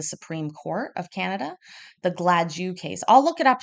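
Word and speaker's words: Gladue: Canada they um actually have something called the glad you factors that's spelled g-l-a-d-i uh e u x and basically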